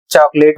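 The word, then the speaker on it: chocolate: यहां पर आपको चॉकलेट वाले शब्द में ध्यान देना है कि सी के बाद एच आया है तो पहले वाले सी एच लेटर का उच्चारण च हो रहा है, लेकिन बीच का जो अक्षर है सी, इसके बाद अक्षर आया है ओ। और मैंने ऊपर वाले नियम में बताया है कि सी के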